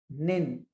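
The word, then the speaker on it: 人: American national and the other onomi the Chinese reading is nin.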